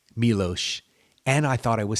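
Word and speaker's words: Miloš: Foreman or milos forman um I thought is melosh Milosz okay so I mispronounced that every single time then and that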